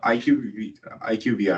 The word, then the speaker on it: IQVIA: So IQVIA, right? Am I pronouncing it right?